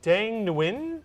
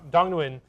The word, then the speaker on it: Dong Nguyen: Is it Dang Nguyen? Is that how you pronounce the name?